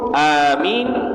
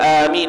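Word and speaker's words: آمين: Amin mengucap Amin pun Amin ada empat bacaan ada empat cara baca Amin dengan qasar dengan dua harakat Amin ataupun dengan imalah Amin boleh ataupun lebih daripada dua harkat secara fathah Amin ataupun imalah kalau baca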